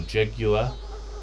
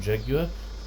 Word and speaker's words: Jaguar: There are a few European cars, if you want a BMW or a Mercedes-Benz or a Jaguar, as we would say in New Zealand, we'd pronounce it Jaguar.